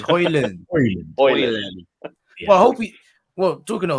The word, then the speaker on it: Højlund: There was a clip of it going viral the other day of him pronouncing it himself, and I think he said it was Højlund. Oh, so it's Højlund.